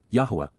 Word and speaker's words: Yahweh: to all of us including God himself Yahweh Yahweh the proper pronunciation of the name of eloah God as